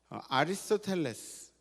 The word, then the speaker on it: 아리스토텔레스: 아리스토텔레스, 영어 발음은 아리스토텔이라 그러는 사람은 인간은 사회적 동물이라고 그렇게 이야기했습니다.